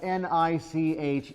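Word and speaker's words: niche: Uh, there's a word that's spelled N I C H E. How is that pronounced? Nich. Nich. Why? Rhymes with rich.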